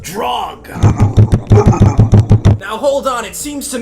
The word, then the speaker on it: Jreg: Drag? It's pronounced drog.